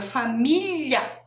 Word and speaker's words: família: o som do lha tem gente que confunde com l i não pode confundir Então olha como escreve